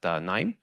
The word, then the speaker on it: KNIME: a data scientist at n uh it's pronounced n so K is silent um our company is